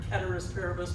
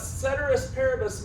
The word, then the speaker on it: ceteris paribus: I've heard it ceteris paribus might be the proper way to say it.